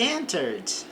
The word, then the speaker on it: entered: Observe que nós não pronunciamos o E aqui entre o R e o D.